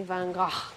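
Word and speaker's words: Van Gogh: painting that is by Vango which is displayed at the Museum oh yes we have to laugh because in Amsterdam the proper pronunciation of mango is apparently vananga this is my pretty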